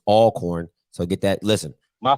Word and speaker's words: Alcorn: here and they they're they're hating that you're pronouncing it alcorn it's all corn so get that listen